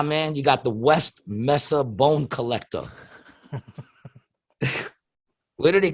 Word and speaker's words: mesa: spanish the word spanish it's a spanish word this person was found